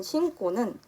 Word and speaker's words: 신고: 첫 번째 예시인 신고는 여기에 있는 어감 받침 니은으로 인해 뒤에 있는 기역이 쌍기역으로 발음이 나고 있습니다.